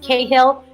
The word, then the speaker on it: Cahill: to say it's pronounced Cahill but everybody does it so don't know if you're if you're in Ireland it's kind of like the hill so you're saying it